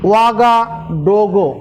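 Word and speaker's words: Ouagadougou: তোমার মুখ মতো উচ্চারণ করো না, এরকমই, এরকম স্পেলিংটা এরকমই আছে, ওয়াগাডোগো।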